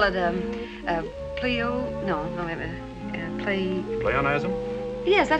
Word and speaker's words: pleonasm: You call it, Pleonasm? Yes, that how you pronounce it?